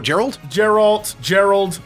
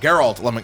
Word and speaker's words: Geralt: Am I finally saying it right? Geralt is how you say it, yes. Yeah, what was I saying before? Gerald? Geralt.